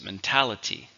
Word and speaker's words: mentality: Mentality. 4 syllables, but the stress is on the second syllable.